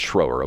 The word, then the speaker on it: Schroer: really simple schroer mickro I want to call him Shroyer but it's schroer okay do you know